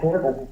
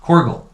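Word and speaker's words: Korgüll: Oh, Corgal. Corgal.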